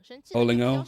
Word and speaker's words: Olingo: Olingo? Yeah, like because it's O0O. And Ling is 0 in Chinese, in Mandarin.